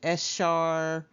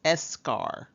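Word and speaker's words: eschar: finally we have escar I know some people pronounce it s Shar escar but the correct pronunciation is escar escar is dead matter that is sloft off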